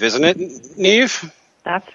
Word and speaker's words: Niamh: I'm I quite confess I don't quite understand Irish spelling conventions because it's spelled n m n a MH but it's pronounced Neeve isn't it Neeve that's right good well